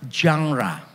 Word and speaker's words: genre: Kita kalau membaca Alkitab itu harus tahu jenis sastra atau genre atau genre. Kalau yang membacanya benar seharusnya jangra gitu. Jadi jangra kalau saudara nanti agak pilek pasti bacanya lebih mudah.